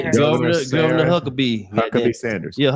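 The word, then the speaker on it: Huckabee: Governor Huckabe.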